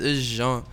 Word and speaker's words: Jean: It's Jean. Jean. That's the name is pronounced, but of course, like it's both ways with the English pronunciation and it's French pronunciation.